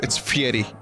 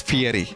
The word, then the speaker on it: Guy Fieri: Fieri I know it's fee Eddie it's it's pronounced fee Eddie according to guy himself whatever haha whatever move